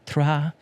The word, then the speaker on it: Troyes: And if I didn't sound pretentious enough, I'm going to pronounce that team again. It's Troyes.